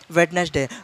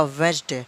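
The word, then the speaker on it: Wednesday: For example वेडनेसडे, वेडनेसडे इसको असल में बोला जाएगा वेंसडे, बोला जाएगा वेंसडे।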